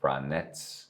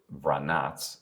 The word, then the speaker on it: Vranec: Now, as I told you, the name is pronounced Vranec here. The origin of this grape, Vranac, is Montenegro, and it's a natural crossing.